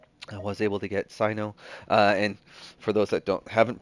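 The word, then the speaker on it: Cyno: I don't know why I was thinking Sino, but it totally makes sense given the source material for where they're pulling a lot of this from. So Sino is the right pronunciation.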